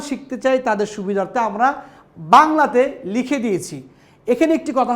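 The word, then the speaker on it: ب: এই বা উচ্চারণ করার সময় আমাদেরকে খুব খেয়াল করতে হবে যে খুব স্বাভাবিকভাবে একেবারেই বলবো আমরা, শুদ্ধ করে এবং খুব সফট বলবো বা।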